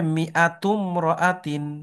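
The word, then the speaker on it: مائة امرأة: যদি এটা শুরুতে আসে তাহলে এটার উচ্চারণ হয়, আর মাঝখানে যখন আসে সেটা আর কি হয় না, উচ্চারণ হয় না। উচ্চারণ। হ্যাঁ। তাহলে এখানে হবে মিআতুম রাআতিন।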